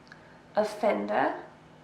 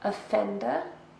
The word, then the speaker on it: offender: Offender. 3 syllables, and we stress the second. Offender.